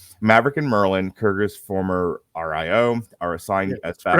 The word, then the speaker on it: RIO: Maverick and Merlin, Kurger's former RIO, are assigned as backup.